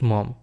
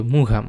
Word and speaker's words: Maugham: এই ছোট গল্পের যে লেখক তার নাম হচ্ছে উইলিয়াম সমারসেট মম। এই জায়গায় উচ্চারণ অনেকেই ভুল করে। এটাকে বলে অনেকে মুঘাম। আসলে এটা ভুল উচ্চারণ হবে।